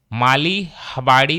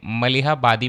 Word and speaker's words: मलिहाबादी: Pronunciation में mistake हो गई, ये मलिहाबादी मैंगो है.